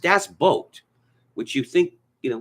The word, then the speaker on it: Das Boot: this great German film called Das Boot it's pronounced Das boat which you think you know would be easy